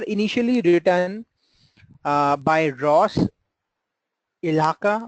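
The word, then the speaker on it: Ihaka: Then R initially written by Ross Ilaka, right? The pronunciation is like this.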